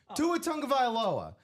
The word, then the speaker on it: Tua Tagovailoa: Tua Tagovailoa on the Speed Flex.